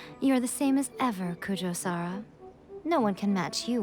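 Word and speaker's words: Kujou Sara: Kujo-Sara. That's how you pronounce it.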